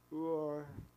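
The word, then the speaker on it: Urim: the Thum and um the closest I'll try the best I can but what I got was it's more like or and Tom would be the more correct Hebrew pronunciation so this concludes the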